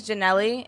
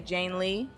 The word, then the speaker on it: Janelle: Jane is so my name is Janelle, and usually people say, like, when they pronounce it, they say Jane Lee.